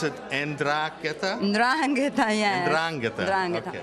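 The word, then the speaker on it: 'Ndrangheta: women that are standing up to, again, let's pronounce it, en-DRAHN-geh-tah?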